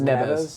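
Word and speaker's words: Neves: it a lot alvaro it's n-e-v-e-s which is never you'd say it with a b i believe yeah because these are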